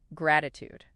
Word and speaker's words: gratitude: Now for a trait that can truly transform your outlook, gratitude. How's that said? Gratitude. The stress is on the first syllable.